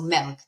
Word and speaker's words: MELC: The word, it sounds like milk, but it's spelled with an E. So milk, MELC. And that's what Okay. you should bring, milk, with an accent.